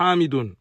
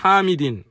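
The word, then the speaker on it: حامدٍ: Là, la faute, elle est sur hamidun. Ce qui est correct, c'est de dire hamidin.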